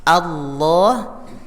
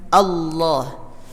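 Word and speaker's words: الله: kita perbaiki dulu letak dari lidah kita ketika mengucapkan Allah jadi lafaz Allah lam jalalah ya disebut juga lam jalalah itu adalah bagian dari huruf yang paling ringan dalam makhorijul huruf dalam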